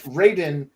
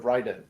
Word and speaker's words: Raiden: it's R AI Deen because they wanted to pronounce it Raiden instead of Ryden but I'm saying like why would they change